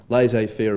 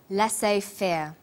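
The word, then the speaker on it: laissez-faire: he uses the phrase lass Fair lass fair is a borrowing from French it closely reflects the pronunciation of the original language and the original spelling do you know the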